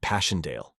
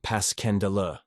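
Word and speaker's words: Passchendaele: was so strange to hear you call it passionale why if I may ask because that's the way I pronounce it to myself but I looked it up and it's more like Pas kendel bless you all the tommies called it passionale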